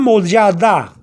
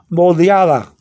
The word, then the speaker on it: moldeada: But if you have a slight TH sound after the D, moldeada, you got it.